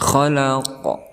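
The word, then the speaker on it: خلق: Seperti itu bacanya, khalaq. Ada pantulan daripada huruf qalqalah itu.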